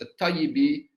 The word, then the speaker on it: al-Ṭayyibī: self-obvious, and second, that his family name is to be pronounced al-Ṭayyibī and not al-Ṭayyibī or al-Tibī.